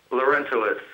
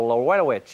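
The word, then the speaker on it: Larentowicz: How do you say it properly? Lorentowitz. Oh, because they don't use the T, did they, in the commentary? They go Lorenowitz.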